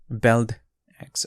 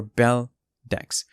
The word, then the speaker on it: Beldex: new project that's called belt x or bell decks um the pronunciation is up to you it's objective uh whether you want to whichever way you want to pronounce it but in this video